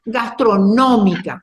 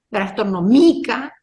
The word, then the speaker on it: gastronómica: ustedes no están convencidos pronuncien acentuando donde Creen ustedes que debe ir y se van a dar cuenta gastronómica en la a no va a ser gastronomica tampoco va a ser gastronómica la o ahí se dan cuenta que la mayor intensidad con la que pronuncio esa palabra es en la o ahí me fijo